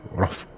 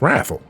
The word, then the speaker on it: wrathful: He said rough. What? Far be it from me to make fun of pronunciation, but that's not how you say wrathful. It's wrathful. It's an A, not an O.